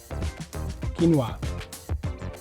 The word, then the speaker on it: quinoa: For goodness sake, stop butchering the pronunciation. Quinoa.